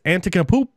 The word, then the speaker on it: Antetokounmpo: Giannis Antetokounmpo. I almost had it. Giannis Exactly. Antetokounmpo. Giannis Antetokounmpo.